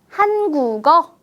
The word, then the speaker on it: 한국어: 네, 한국어라고 읽을 수 있겠죠. 글자 그대로 한국어라고 읽는 것보다 한국어 어때요? 훨씬 더 발음이 편하게 들리지 않을까요?